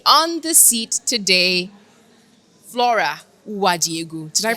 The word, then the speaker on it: Uwadiegwu: I'm a lawyer day and I've got with me on the seat today Flora Wajigu. Did I pronounce that right?